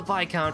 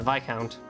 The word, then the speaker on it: Viscount: You want to talk about English phonetics, there's an S in Viscount.